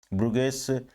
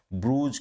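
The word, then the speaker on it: Bruges: इसका प्रोनाउंसिएशन थोड़ा सा ध्यान में रखिएगा, जो मैं वर्ड बता रहा हूँ, क्योंकि हम अभी ओल्ड इंग्लिश के बारे में बात कर रहे हैं। एक्चुअल में इसको ब्रूज और ब्रुगेस दोनों तरीके से साउंड किया जाता है।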